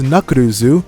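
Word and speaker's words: ナックルズ: It's pronounced nakuruzu.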